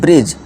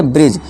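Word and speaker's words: bridge: तो डी भाई साहब का रूल क्या है, एन और जी से पहले डी हो तो डी साइलेंट होगा। एग्जांपल देखिए डी भाई साहब का, देखिए इसे क्या पढ़ेंगे अब, ब्रिज। अब डी क्या है हमारा, साइलेंट हो जाएगा, हम BRI और GE को ही करेक्ट प्रोनाउंसिएशन देंगे और डी को भूल जाएंगे। ठीक है दोस्तों, डी को भूल जाइए, है ही नहीं, समझ लीजिए। तो अब से क्या पढ़ेंगे, ब्रिज।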